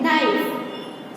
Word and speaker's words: knife: K को हम नहीं बोल रहे, सिर्फ क्या बोल रहे हैं, नाइफ।